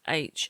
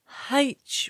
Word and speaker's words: H: It is H and not H, which is weird, isn't it? Why is the letter H pronounced without a H sound, Gav?